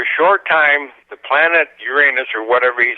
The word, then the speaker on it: Uranus: But he don't call it Uranus, does he? No, he Uranus. says Uranus. Yeah, he says that's the way it's supposed to be pronounced. But my inner 12-year-old calls it the other one.